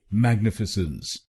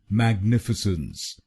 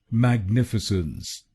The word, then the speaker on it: Magnificence: इसकी सही प्रोनाउंसिएशन है मैग्निफिसेंस। मैग्निफिसेंस। इस शब्द में 4 शब्दांश हैं। पहला शब्दांश है MAG, दूसरा शब्दांश है NIF, तीसरा शब्दांश है I और आखिरी शब्दांश है CENCE।